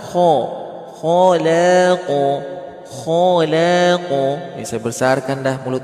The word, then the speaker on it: خلق: Huruf asli qaf itu gimana? Khalaq. Gitu. Ya. Bismillah, kita lanjut lagi. Ya. Ala ya'lamu man khalaq. Khalaq. Jangan kholak, khalaq.